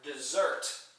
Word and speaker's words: desert: One S accent on the first syllable, therefore I'm referring to a wasteland.